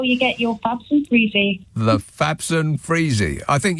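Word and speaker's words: Frisé: Freezy, as in frizzy.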